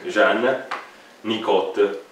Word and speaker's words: Jean Nicot: sua volta deve il nome a Jean, come si legge in francese? Jean Nicot.